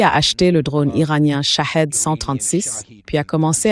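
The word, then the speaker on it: شاهد: Le nom, la prononciation correcte en persan, c'est Shahed. Shahed, ça veut dire témoin, tandis que Shahid en persan veut dire martyr.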